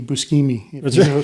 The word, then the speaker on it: Buscemi: Is that how you pronounce it? Steve Buscemi? Yeah, it's Buscemi.